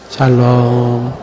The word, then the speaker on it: 샬롬: 샬롬. 반갑습니다. 그 샬롬 할 때 앞에 액센트를 세게 주면 안 돼요. 예, 그러면 발음이 이상하게 나옵니다.